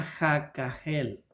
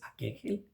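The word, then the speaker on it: הקהל: ¿Cómo se pueden pronunciar más suave? Tal vez aquel. Aquegjel. Aquel. aquel o aquel aquel sin sonar la H que lleva ahí.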